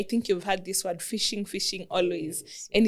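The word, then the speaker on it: phishing: So fishing it's the spelling is P H I S H I but fishing from the pronunciation is like fishing from the ocean or a lake.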